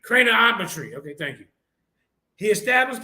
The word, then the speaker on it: craniometry: scientists in the field of CR how you pronounce that cranometry craniometry okay thank you he established a five-part naming